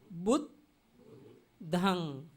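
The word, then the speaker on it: buddhaṃ: At that time, the first joined word we have to pronounce with beginning word. Bud, bud, bud, dhang, bud, dhang. This means only two syllables, two letters, according to the Pali.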